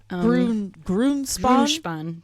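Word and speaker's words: Grünspan: Grunspan. Grunspan.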